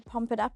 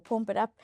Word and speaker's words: Pump It Up: view that number 10, Pump It Up or Pomp It Up, I know which one, uh, is correct and I'm just, um, joking about the other one. Pump it up is correct pronunciation.